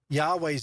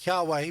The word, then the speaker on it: Yahweh: Now we say Yahweh because that is the scholarly recognized way of pronouncing the Tetragrammaton, Yahweh.